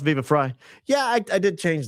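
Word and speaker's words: Viva Frei: Uh Viva Fry is pronounced Viva Fry.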